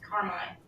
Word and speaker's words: Carmi: Probably Carmi. That That's I think it starts with a C, so that's probably it. Yeah, it's the last big town. Carmi. Carmine. It's pronounced Carmine.